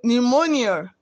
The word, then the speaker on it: pneumonia: letter g is silence p n in pneumonia p is silence m n in mnemonic